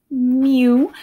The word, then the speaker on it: mu: little you guy is called mu okay it's pronounced mu so which cat falls off the roof first